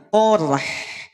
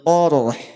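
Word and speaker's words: قرح: H itu punya sifat hams. Dialirkan nafasnya, dialirkan suaranya. Qorh. Asobahumul qorh. Tidak qorh. Qorh. Tidak diputus suaranya. Tidak diputus pula nafasnya. Paham sampai sini? Alhamdulillah. Asabahumul qarh. Asabahumul qarh. Paham? Jadi huruf H dibaca tipis.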